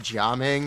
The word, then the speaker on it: Gaming: If you don't know, his name can be pronounced Jaming, as in jamming, because he's a dancer.